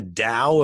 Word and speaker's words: Tao: glowing almost it was it was called the Dow of Pugh the Tao the Tao ta o